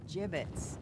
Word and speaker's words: gibbets: here dead end hey look avery had some gibbots left over gibbets what it's pronounced gibbets are you sure yeah well no